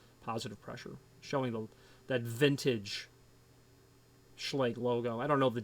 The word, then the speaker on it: Schlage: Well, it's properly pronounced in German, Schlage. That's the proper way to pronounce it in German.